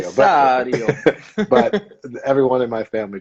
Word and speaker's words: Cessario: Am I pronouncing it correctly, or is it Cessario or You've got the correct Italian pronunciation on that one, Cessario. Cessario?